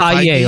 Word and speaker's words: Feige: Feige, like the yogurt.